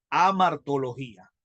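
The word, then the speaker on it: hamartiología: Por eso el nombre de la doctrina del pecado no es pecadología, es amartología. ¿Entienden? Con H. Amartología. Amartología.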